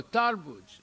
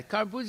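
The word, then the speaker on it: तरबूज: Oh, tarbuj. Okay. Yeah, karbuz is the Muslim way of pronouncing it.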